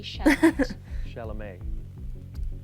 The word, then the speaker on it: Chalamet: okay calm enough down Timothy shot chalamet is that how you pronounce it yeah the t is silent so I think I'm